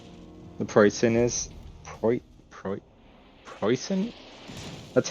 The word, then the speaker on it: Preussen: Today I'm just going to be doing a little intro review thoughts on the poison.